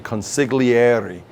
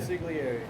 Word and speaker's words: consigliere: Consigliere. Consigliere. That's great. And by the way, it's not, I know I'm over articulating. It's not consigliere. You know, it's consigliere.